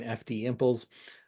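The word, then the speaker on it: FDIMPLES: the upper right hand corner of the screen FD imples uh that's how you pronounce it English um but it stands for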